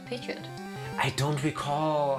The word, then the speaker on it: Pidgeot: I'm pretty sure it's actually pronounced Pidgeot and not Pidgeot. Really? Really? I've always said Pidgeot.